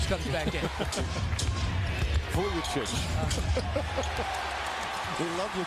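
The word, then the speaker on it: Vujačić: Get me back in when Vujasic comes back in. Vujicic. We love your pronunciation sometimes.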